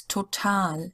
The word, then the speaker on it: total: But each time in English the stress is on the first syllable and in German on the second one. So total is total in German.